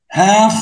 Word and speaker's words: half: half of. الL silent في half والF هنا بتتنطق V.